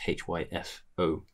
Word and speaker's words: Hypho: Hypho MCR on Instagram is Hypho. F? There's no F. What am I? It's PH.